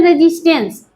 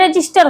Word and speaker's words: resistor: में लगा होता है वैसे तो इसका लोग बोलते हैं रजिस्टेंस बट इसका सही उच्चारण रजिस्टर होता है रजिस्टेंस जो ये वर्क